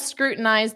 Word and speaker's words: scrutinized: So you could say the accountant scrutinized, zd. So a very soft D at the end for the past simple.